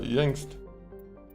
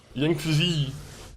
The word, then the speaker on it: Yangtze: Oh, we could go to Amazon, or we can go to Yangst. I think that's how you say it, right? Yangtze. That's how you actually say it.